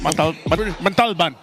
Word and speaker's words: Montalban: Montalban. There you go. I'm pretty sure if you told the driver to go there, he would figure it out. Para po sa Montalban.